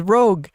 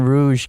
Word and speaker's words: Rouge: I thought her name was Rogue. I only figured out how to pronounce her name properly when that movie Moulin Rouge came out.